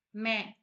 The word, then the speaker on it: मैं: First மே, மேனா நான். இது எப்படி ப்ரொனவுன்ஸ் பண்ணணும்? மே, மேன்னு சொல்லக்கூடாது, என்ன வராது, ஜஸ்ட் சவுண்ட் பண்ணணும்.